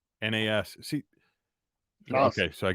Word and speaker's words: Nas: Nobody's Loser says, no, you said it right. It's NAS.